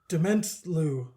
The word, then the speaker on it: Dementlieu: Nope. Dement. Liu. Like lieutenant, Dave. Dementlieu. Dementlieu. That's how I'm pronouncing it.